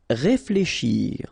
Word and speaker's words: réfléchir: Réfléchir. Okay, remember when you combine this F and L together, you get the sound fl, fl. Okay, réflé, and then combination of C and H, sh, shir. Réfléchir, réfléchir.